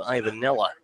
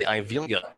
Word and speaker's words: Ivelia: So 1 away now, and the batter's Andrew Ivanella. First pitch, breaking ball, finds the outside part of the plate, called strike 1. I should say Ivelia is how you pronounce the name, but Ivelia has reached base actually all 3 times.